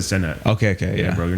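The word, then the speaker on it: Cenat: Did you say CNAT or? No, I said Senat.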